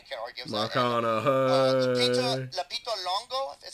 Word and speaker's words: Lupita Nyong'o: Lupita Longo, is how you pronounce her name? Lupita Nyong'o.